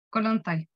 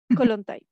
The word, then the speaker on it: Kollontai: Entonces el primero, Alexandra Kollontai, 1917. ¿Cómo se pronuncia? Kollontai. Kollontai.